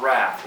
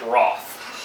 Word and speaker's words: wrath: When we talk about wrath, or if you're British, wrath. Okay, that's how they say it, wrath.